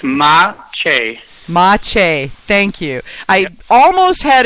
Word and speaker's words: Maciej: already am please tell me how to correctly pronounce your name so I can get it right every time it's ma ma thank you I almost had it right I